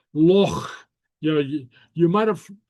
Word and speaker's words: loch: Yeah, very often English speakers will pronounce it loch, like a CK, but it's not. It's not a CK. It's a loch.